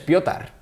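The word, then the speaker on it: Petr: del Arsenal Peter check no es Peter es piotar porque bueno es el es Checo y la promoción Sería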